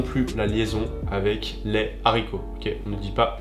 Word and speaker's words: haricot: avec le S précédent ensuite on a le h aspiré même si ce h n'est pas prononcé non plus il empêche les liaisons et les élusions par exemple on va dire le haricot ok on ne peut pas dire l'haricot et donc ne fait